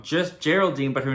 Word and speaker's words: Geraldine: I called her Geraldine in Episode 3 review because I read the name wrong. It's actually pronounced Geraldine.